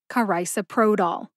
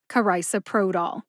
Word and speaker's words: carisoprodol: that's I like eyeglasses the third syllable is so like you sew on a button the fourth syllable is pro like a pro football player and the fifth and final syllable is doll like dollar put it all together